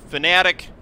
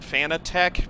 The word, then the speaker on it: Fanatec: Fanatic, a lot of people pronounce it Fanatec because it's how it's spelled, but the company pronounces it Fanatic.